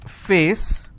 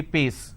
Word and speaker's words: face: sound for example if i have a word which is face they replace that and say pace now face is different